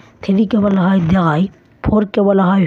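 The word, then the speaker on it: drei: দেখুন, 0কে জার্মানে বলা হয় নুল, 1কে বলা হয় আইন্স, 2কে বলা হয় সোয়াই, 3কে বলা হয় দ্রাই, 4কে বলা হয় ফিয়া, 5কে বলা হয় ফুনফ,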